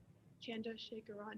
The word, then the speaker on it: Chandrasekaran: of this video with that being said dr chandra shakaran you may start when you're ready all right